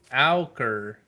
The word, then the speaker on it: ochre: Let me see how it's pronounced. It is ochre. Auker.